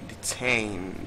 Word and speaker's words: detain: So the only answer we have here is detain, detain, detain. Stress on the second syllable, and then as the same, you can see last four sounds as obtain.